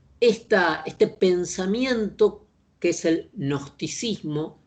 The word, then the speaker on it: gnosticismo: Cuando digo transversal, quiere decir que este pensamiento, que es el gnosticismo, se escribe con G, pero es una G que apenas se pronuncia, el gnosticismo, es una orientación del